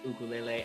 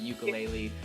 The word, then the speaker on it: ukulele: Still to this day, she reminds me that ukulele is pronounced ukulele and not ukulele.